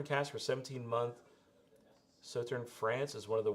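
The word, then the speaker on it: Sauternes: minimum of six years in salt salt turn salt so turn really there's no the s is silent so turn cash for 17 month so turn France is one of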